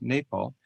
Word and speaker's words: Nepal: I' I've been calling it Nepal all these years but I'm told it's pronounced Nepal.